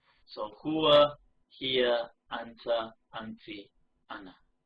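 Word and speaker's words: أنا: However, right, it is only pronounced as though the alif is not actually there. So it's pronounced as though it's just ana, as in, as though it looks like this.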